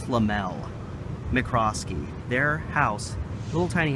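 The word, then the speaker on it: Lemuel: L McCroskey and her husband limbo it's spelled lem UEL I think it's lamelle mccroskey their house little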